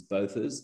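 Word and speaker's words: Botha's Hill: is hill um and before i get corrected by people about my pronunciation it's kzn it is bothers they have never heard of burtons hill um and you run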